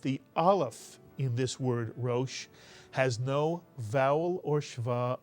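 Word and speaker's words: ראש: look at this word how many syllables are in this Hebrew word and the answer yes is one there's only one vowel it's the vowel over the r theum mitsu Yan and if there's only one vowel there's only only one syllable in this word this is a one syllable word can you read this one syllable and if you said Ro you are absolutely correct this word is RO by the way this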